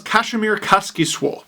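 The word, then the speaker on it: Kasimir Kaskisuo: Florida, as well as Kazimierz Kaskisuo. Yes, that's how you say it. As told to me by a Finnish person, who I'm sure is very happy.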